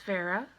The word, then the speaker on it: Vera: Her name is Vera, like aloe vera. Rhymes with Sarah.